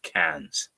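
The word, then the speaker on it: Cairns: 67 kilometers north of cans and or k but they pronounce it can and that is a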